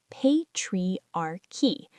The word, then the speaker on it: patriarchy: AFFECTS BOTH MEN AND WOMEN THOUGH DIFFERENTLY IT'S PRONOUNCED PATRIARCHY THE ADJECTIVE IS PATRIARCHAL THIS IS A SOCIOLOGICAL